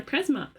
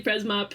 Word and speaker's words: Presmop: I kept calling them Presmo for the longest time. And then they were like, it's actually Presmop. The P is not silent.